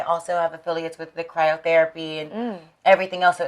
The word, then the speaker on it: cryotherapy: we were in cryotherapy that's how you pronounce it cryotherapy what the hell is